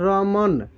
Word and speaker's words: रमन: उच्चारण में लास्ट में अ नहीं उच्चारित हो रहा है। यहाँ पे हम लोग बोल रहे हैं रमन, रमन नहीं बोल रहे हैं, हम लोग बोल रहे हैं रमन।